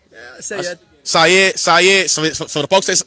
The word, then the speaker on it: Sayed: with the Abdul, you know what I'm saying, Saeed. I said that right? Yeah, Sayed. Syed. So the folks that's mispronouncing it, Syed.